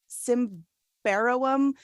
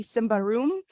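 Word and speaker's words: Symbaroum: forgetting how to pronounce I thought it was simvarowam but it's apparently Simba room it's like a really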